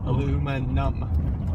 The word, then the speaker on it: aluminum: Aluminum. Okay. And numma. You know, it's like aluma and you're numb. Aluminum.